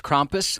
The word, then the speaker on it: Krampus: So, and and we have been pronouncing it incorrectly. We've been calling Krampus. You told us off air it's Krampus.